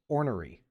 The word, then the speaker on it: ornery: don't good call or ornery I think orry going to Google seeing how she says it it's like or or re but the last two syllables kind of kind of slide together so it's orry it's like